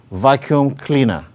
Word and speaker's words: vacuum cleaner: While with the second example, we have a compound word, vacuum cleaner. Vacuum cleaner. Vacuum cleaner. So the primary stress is on vacuum, while the secondary stress is on cleaner.